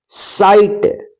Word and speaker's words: sight: SIGHT, साइट।